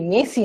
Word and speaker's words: merci: ঠিক আছে, অ্যালাসা বলতেছে মেসি, মেসি না, অ্যাকচুয়ালি ওটা MERCI, বাট আরটা ফ্রেঞ্চে উচ্চারণ করা হয় না।